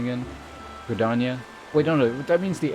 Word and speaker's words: Gridania: Quinator's what's the proper pronunciation again? Gridania?